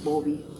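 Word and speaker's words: Bovie: El electrocauterio es un aparatito que tiene su cordón, que viene, la electricidad viene de un aparato que se llama Bowie, que se pronuncia Bobby, ¿no?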